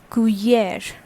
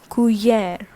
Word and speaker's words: cuillère: Okay, so number one is la cuillère. What is the pronunciation? That is la cuillère, which means spoon in French.